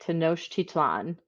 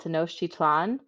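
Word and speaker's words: Tenochtitlan: the Aztec people built a city called to noctic titsline hold please all right I Googled how to say it to Noche titlan so the city was called to know chitlan and it was on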